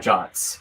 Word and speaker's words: JWT: quick let's talk about jots so it stands for json web token it's pronounced jot and it's a standard